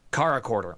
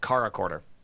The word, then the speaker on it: CharaChorder: Caracorder. Oh, it's pronounced Caracorder.